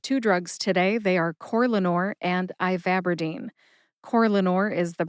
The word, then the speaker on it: Corlanor: Corlanor has 3 syllables. That's core, like an apple core.